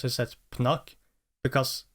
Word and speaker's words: Pnuk: uh and like for the reason why I pronounce this as pnu because it's probably supposed to be Punk so